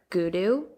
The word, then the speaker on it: Goudeau: So, starting off, we're going to talk about a man named Mark Goudou. That's how you say his name. I looked it up. Nora, I looked it up, I promise. It's spelled Goudeau.